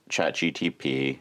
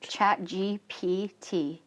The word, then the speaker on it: ChatGPT: I always think you mess up the GD. You say GDP.